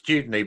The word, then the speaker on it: Dudeney: And did I get the pronunciation correct? It's Dudeney, but don't worry because Dudeney.